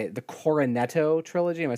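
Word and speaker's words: Cornetto: for is i can never say it the coronetto trilogy am i saying it right yeah that's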